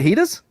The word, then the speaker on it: fajitas: When you go and order a fajita, how exactly does that get pronounced when you're in the drive-thru? Fajitas like that? All right, just making sure you didn't drop the hard J on that one.